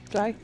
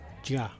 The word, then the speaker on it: Jia: What'd she tell you, Ja? Nope. What'd she say? Jai? Nope. Gia? Jia. So you pronounce the I, so it's Jia.